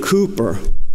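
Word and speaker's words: Cowper: famous hymn writer named William Cooper cewper Burgess pronounced Cooper and he had some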